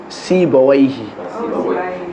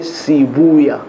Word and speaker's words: Sibawayh: Like the ulama al-Lugha say Sibawayhi. Yeah, but the ulama al-Hadith said Sibuya.